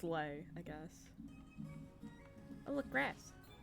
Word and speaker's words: Lei: Or it's Lay, I guess. Oh look, grass. I have no idea how to pronounce the name L-E-I. Well, it's Lei apparently.